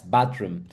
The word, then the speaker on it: bathroom: Yes, bathroom. Very good. So just remember the sound of th in English. You pronounce it like th, so bathroom.